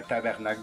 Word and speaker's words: tabarnak: T'es un tabarnak de con. J'arrête pas de dire tabarnak comme vous. C'est tabarnak. Tabarnak. Comme du tabac. Hein, du tabac. Tabarnak. Prononcez-le comme ça.